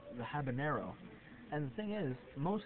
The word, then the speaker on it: habanero: about Peppers here there's a pepper called the habanero and the thing is most of the time it's mispronounced as the habo with a toad over the end not true it is in fact the habanero pepper and that is another useless fact you